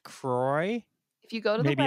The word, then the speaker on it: Croix: yes in the u.s it is pronounced kroy to rhyme with soy or toy or boy but in the rest of the world it's pronounced quoi what so i've been